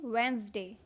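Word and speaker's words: Wednesday: बुधवार जिसको बोलते हैं बुधवार, इसको बोलते हैं वेंसडे, वेंसडे। डी का साउंड यहाँ पर गायब हो जाता है, मतलब नहीं बोला जाता है, वेंसडे, alright, वेंसडे, वेंसडे, वेंसडे।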